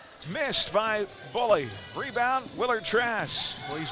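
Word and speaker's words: Mboule: You know, it's funny, Avon Buhler, his last name spelled M-B-O-U-L-E. I would have never pronounced that as Buhler, but it is.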